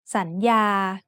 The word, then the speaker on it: สัญญา: So the first syllable makes the sound สัน with a rising tone. The second syllable has the initial consonant ยอหญิง and the vowel สระอา so it makes the sound ยา with a mid-tone.